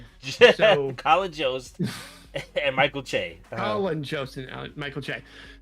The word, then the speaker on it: Che: Che, you're Michael Che, yeah.